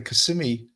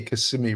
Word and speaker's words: Kissimmee: been told I say Kissimmee wrong, Kissimmee or whatever. I say it with a New York way of saying it, and people have told me, you're saying it wrong. It's not Kissimmee, it's Kissimmee.